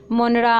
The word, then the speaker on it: Monera: मोनरा, अमीबा, ये मोनरा की spelling यहाँ पे मोनार्ड्स लिख गई है गलती से, वो मोनरा होगा.